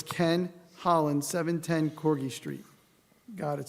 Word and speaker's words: Holland: my name is Ken Holland live at 710 CGI Street sir please St your name and spell it addad is Holland like the country h o l l